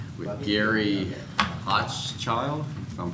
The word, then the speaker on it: Hochschild: And we're going to pick up with item number 9 with Gary Hochschild, if I'm pronouncing that correctly. Hochschild. Mr. Owen. Hochschild is how you pronounce it.